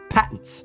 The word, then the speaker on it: patent: quite a few times they pronounce it patent which it just involves opening my mouth for thought too long I don't like it